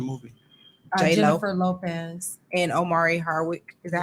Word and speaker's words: Omari: And Omari Hardwick. Is that how you pronounce his name? Mhm. Amari.